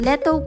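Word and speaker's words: L'ETO: O nga pala ang Letto Cafe. Yes that true ganyan ang pag-pronounce niyan.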